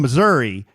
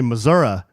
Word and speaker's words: Missouri: podcast to tell you I'm from Missouri and we say Missouri with a long E. I guess some people say Missoura, but we judge them."